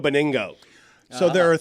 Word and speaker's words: Benigno: Joe Benigno? Did I pronounce it Joe right? Beningo.